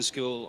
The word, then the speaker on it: Scull: William School, the reigning IBF 175 lb champion. And just for for clarity, William, it's school, right? All right, we're go William School with the pronunciation school.